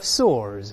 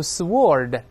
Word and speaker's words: sword: 声，比如说 a clash of swords，就是刀剑，这剑和剑当当当撞在一块了。注意剑不要读 swordW here is silent.